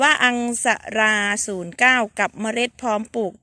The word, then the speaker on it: Aungsara: a r a 09 อ่าน ว่า อัง สะ รา 09 กับ เมล็ด พร้อม